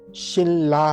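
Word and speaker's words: 신라: शिल्ला की, तो लिखना तो आपको शिन, शिल्ला है, शिल्ला है। लिखने वाली स्पेलिंग कभी मत चेंज कर दीजिएगा, वो हमेशा वही रहेंगी। नंबर 1 की फ्योनली रहेगी, नंबर 2 की शिनला रहेगी, लेकिन उच्चारण खाली बदलता है।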